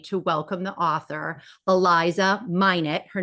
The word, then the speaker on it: Minot: absolutely thrilled today to welcome the author Eliza minet her name is pronounced and I screwed that up on the podcast um it's not Mano it's minet so welcome Eliza thank you thank you thank